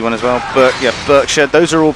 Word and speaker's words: Berkshire: Berkshire is pronounced Berkshire.